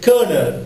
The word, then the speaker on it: colonel: Udikino, kernel.